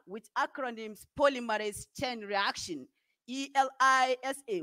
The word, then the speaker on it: ELISA: acronyms polymerase chain reaction e-l-i-s-a which pronounced elisa and acronyms enzyme link